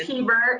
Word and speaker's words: Heber: Is it Heber or Heber, Megan? It's Heber. It's Heber.